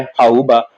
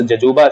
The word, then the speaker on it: jojoba: इसका बेटा common name जो होता है वह होता है हाउबा और इसको आप स्पेलिंग पढ़ते JOJOBA। जजूबा आप पढ़ेंगे लेकिन इसको प्रोनाउंस जजूबा से नहीं किया जाता, हाउबा इसको हम कहते हैं।